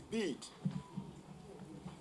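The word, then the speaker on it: Bede: help me proun properly my first name is beat and don't be afraid about the spelling the spelling is b e d e but it is pronounced beat in fact the remainder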